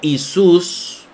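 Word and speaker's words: Ἰησοῦς: Isus o Jesús. Porque E es como la pronunciaba Erasmo. Y Isus es como se pronuncia actualmente en el griego moderno.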